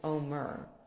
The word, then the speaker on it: Omer: So We usually pronounce what she's talking about as Omer, like the counting of the Omer.